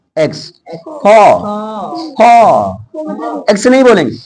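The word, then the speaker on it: faux: X केवल पूरे English में एक ही जगह साइलेंट रहता है, एक्स, फॉ, एक्स नहीं बोलेंगे, फॉ। आगे यहाँ जेड केवल 2 जगह साइलेंट रहेगा, वो भी फ्रेंच वर्ड में। इसको लेज फेयर, यहाँ पर रेंडवस, क्लियर, रेंडवस क्लियर।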